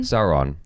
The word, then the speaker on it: Sauron: Sauron.